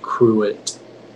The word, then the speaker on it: cruet: Are there any alternate pronunciations? It's just the one, cruet.